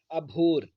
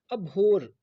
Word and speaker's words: abhor: और हमारा आज का पहला वोकैब है अभोर, ABHOR। अभोर, अभोर में रा को आप साइलेंट रख सकते हैं, आप सीधे इसको अभो भी बोल सकते हैं।